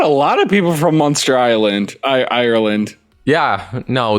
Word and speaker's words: Munster: podcast are from munster how do you pronounce that is it monster like a monster like no like yeah no monster like the cheese or the place in ireland okay so a hundred percent